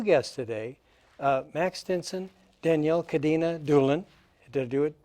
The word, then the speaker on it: Cadena: And so we have two guests today, Max Stinson, Danielle Cadena Doolin. Did I do it pretty good? Pretty good. Pretty, oh, help me out. What's better? No, cadena. Cadena. Yeah, it's a Spanish pronunciation.